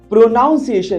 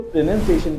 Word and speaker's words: pronunciation: क्योंकि उसको प्रोनाउंसिएशन नहीं उसको प्रोनंसिएशन कहा जाता है।